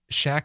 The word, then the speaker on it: Shaq: just gonna make us shaq rhymes with pack new pac-man boom no